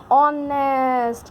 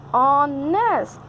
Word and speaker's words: honest: me, and that becomes honest. O is telling that H is silent here, no need to see H, I am the nominating one, So when you say this word, this becomes honest.